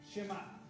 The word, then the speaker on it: Shema: Shema. Entonces, lo diga con E o lo diga sin E, es lo mismo en la pronunciación.